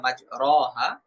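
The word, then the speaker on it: مَجْرٰىهَا: চিহ্নটা ব্যবহার হয়েছে অর্থাৎ এই শব্দটা মূলত ছিল মাজরিহা বা মাজরহা কিন্তু এখানে উচ্চারণ করতে হবে মাজরেহা। মাজরেহা এইভাবে উচ্চারণ করার নাম হচ্ছে ইমালা।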